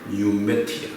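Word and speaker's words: pneumatic: 영어에서는 P를 발음하지 않기 때문에 뉴매틱이라고 하죠.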